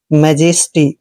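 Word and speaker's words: majesty: एक मात्रा पढ़ते हैं जे का उच्चारण हमने ज करना है ई को फिर से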